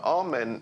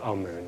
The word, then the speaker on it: Amun: deities was amen now now amen is the pronunciation that the Hebrews give it and some Scholars agree to use that pronunciation amoon is the pronunciation given to it by one of the old European scholars plutar in the language of K the word for hidden is IM or Amun is the way that we U